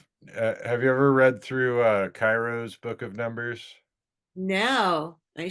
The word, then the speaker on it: Cheiro: It's Well, I pronounce it Cairo, but it could be Kiro, I guess. Cheiro. Cheiro. Yeah, Cairo.